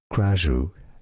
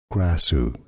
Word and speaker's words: Krasue: There are different pronunciations depending on the country. Essentially, Kajju is one of them. Some say it as Grashu as well, but in English it's often pronounced Graasu.